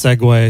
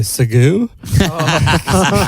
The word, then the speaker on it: segue: And he used to pronounce segue Segoo. He'd only read it before.